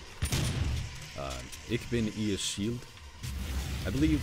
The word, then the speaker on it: ich: And I found that apparently you're not supposed to be pronouncing the CH so hard as I was in German.